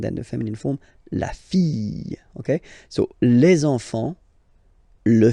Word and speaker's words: fille: Okay, so this L here and E will give you the sound Y. La fille. La fille.